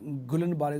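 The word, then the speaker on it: Guillain-Barré: syndrome some people pronounce gulin bar syndrome some people pronounce Gil syndrome well different way of pronunciations are there but however Ms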